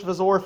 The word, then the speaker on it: wzór: But anyways, yeah, this is the Polish Vazor 50. And wzór means model in Polish. A lot of syllable, like fucking words get pronounced as V's in Polish.